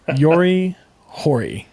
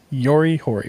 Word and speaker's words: Yuji Horii: Then we have I had these names pronounced earlier. Yuji Horii. Yuji Horii.